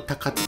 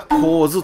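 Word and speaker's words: 高津: これ僕は何の疑いもなく高津と読みました。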